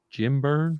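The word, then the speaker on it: Jim Byrne: I followed Superman because I like the Jim Burn.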